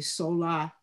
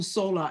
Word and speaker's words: Solá: dr sola i actually pronounced my name wrong too there was an accent on the a sola means from out of